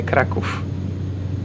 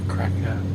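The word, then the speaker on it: Kraków: Now, do you say crack or crack? We say crackoff. Good. That's what I thought. So many news readers, they say cracker.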